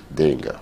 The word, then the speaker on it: d'Engle: Help me pronounce it. Dengo. Dengo.